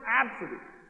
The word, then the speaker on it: Abcde: in this particular one is ABCDE Redford it's pronounced absent but this works and the ticket taker at